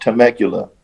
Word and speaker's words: Temecula: I think that's pronounced Temecula.